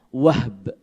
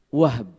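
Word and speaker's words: وهب: Sehingga nama ayahnya Aminah atau kakeknya Nabi dari ibunya adalah Wahb. Wahb. Jadi haknya disukun. Ya, pakai ba. Waw ha ba.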